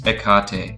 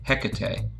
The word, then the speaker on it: Hekate: topic is the goddess ekate sometimes pronounced hekate or heket ancient greek goddess of